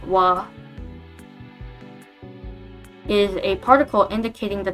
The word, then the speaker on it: は: So this wa, pronounced like wa, is a particle indicating the topic of the sentence.